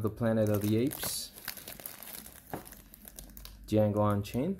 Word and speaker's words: Django: Django Unchained. The J is Silent.